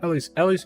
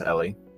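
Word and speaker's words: Ely: No, Ellie's good. That's how it's pronounced Ellie.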